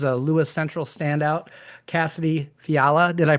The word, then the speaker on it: Fiala: Uh, today my guest is a Lewis Central standout, Cassidy Fiala. Did I pronounce that correctly or is it Yeah, I did pronounce That's awesome because I usually screw things up like that.